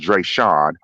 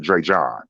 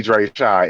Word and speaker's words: Dreasjon: did Dreasjon, even and his name is actually pronounced Dreasjon. Fatima, the lawyer yesterday, she's the person who mispronounced his name because it's not Dreasjon. It's, Okay. it's really Dreasjon. It's not Dreasjon. It's Dreasjon.